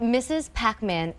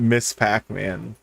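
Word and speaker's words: Ms. Pac-Man: don't play games because they pronounce as Mrs. Pac-Man, not Miss Pac-Man.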